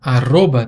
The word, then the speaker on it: arroba: mas como vocês já viram, é pronunciado diferente. E eu coloquei esse R duplo aí em vermelho, não foi à toa, não. Ele tem aquele som vibrante múltiplo que eu mostrei antes.